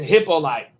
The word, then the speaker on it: Hippolyte: It's like Hippolyte. Like Hippopotamus. It's Hippolyte.